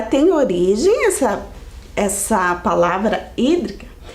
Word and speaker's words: hídrica: olhe como se escreve se escreve com h né o h não tem som então começa o som do I hídrica o que será essa